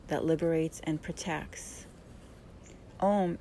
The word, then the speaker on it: Om: that liberates and protects om is actually spelled a-u-m and is chanted with three syllables um om is